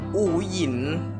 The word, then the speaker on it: อู๋หยิน: ไหน นะ นี่ ไง อู หยิน มัน มัน อ่าน ว่า อู๋ หยิน ใช่ มะ นี่ ฉาก เปิด ตัว